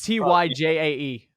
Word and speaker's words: Tyjae: How do you pronounce his name? Oh God. TJ. It's Tyjae.